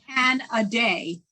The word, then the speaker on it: Canadé: And in terms of the pronunciation of your name, Canadé. That's right. Canadé, right? That's so right. That's just and thank you for that mnemonic. Drink a Canadé.